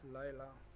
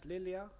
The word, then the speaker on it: Lilia: We have Lila. How do you pronounce it? Lilia.